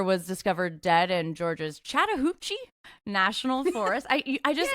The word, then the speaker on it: Chattahoochee: Uh, black bear was discovered dead in Georgia's Chattahuchi National Forest.